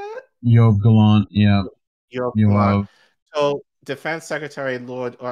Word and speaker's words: Yoav Gallant: Yoav Gallant, yeah.